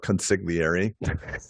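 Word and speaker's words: consigliere: much less doesn't matter constantly area you would call it consigliary it's the um family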